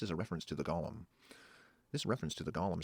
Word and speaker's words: golem: Golem and sits. Hebrew avoids Vader would be Satan. Writing vowels, hence GLM is pronounced golem.